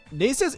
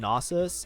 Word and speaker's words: Nasus: have nus 2 oh sorry NES is pronounced nasus and I have to